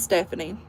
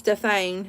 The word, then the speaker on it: Stephanie: the birth certificate, um, my name is spelled S T E P H A I N E, but I spell it because people at school would like say, "Your name says Stefane," and it would like embarrass me.